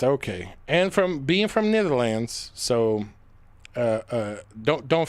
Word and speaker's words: Netherlands: And from being from Netherlands. So uh uh don't don't forget that neither lands is neither here neither there. So when you hear me saying wrong, I know it's Netherlands.